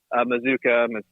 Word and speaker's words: Mazzucca: to see that Micah Mazzucca, I don't know how to say his last name. Like Bazooka. Mazzucca.